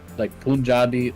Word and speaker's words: Punjab: Is it a PUN or is it is it pronounced like a POON? So it's POON. Punjab. Punjab.